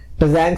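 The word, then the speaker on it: Tzanck: ज़ैंग smear is very very important, and sometime this T इज a silent, so ज़ैंग smear कहते हैं कई बार।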